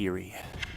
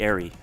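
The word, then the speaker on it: Eyrie: The Eerie. The Airy, excuse me. The Airy is the correct pronunciation.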